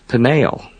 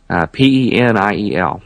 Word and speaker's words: Peniel: Jacob names that place Peniel, P-E-N-I-E-L, slightly different spelling, Peniel, almost identical pronunciation.